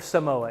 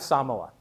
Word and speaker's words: Samoa: Um or or Samoa is how English speakers pronounce it, but it's pronounced Samoa.